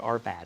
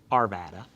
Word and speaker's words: Arvada: Us close to Denver it's called Arvada that's how they pronounce it like Nevada but with an Arvada uh but this is